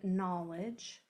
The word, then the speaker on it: knowledge: We already worked with KN in the word knowledge. That is a silent letter pair. You don't hear the K, only the N.